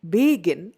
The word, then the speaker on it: begin: I don't say begin, I say begin.